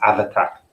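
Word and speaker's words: Abhartach: you class it as it's actually pronounced have attack yeah yeah i'll try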